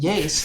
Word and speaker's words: YASE: and I was like, "Well, it's pronounced YASE," and yes.